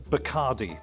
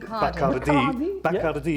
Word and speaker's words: Bacardi: Okay, by the way, in English it's always pronounced Bacardi, but Bacardi is the correct pronunciation because it's the surname of one Facundo Bacardi, who was born in the early 19th century.